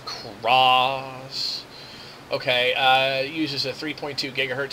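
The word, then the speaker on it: Xross: And it uses the Cross Media Bar operating system. It's spelled X-R-O-S-S, Cross.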